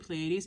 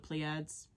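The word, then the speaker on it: Pleiades: a Lifetime on pades and I keep saying pleades and I don't even pronounce it that way because I was told to call it plads and I want to call it plads but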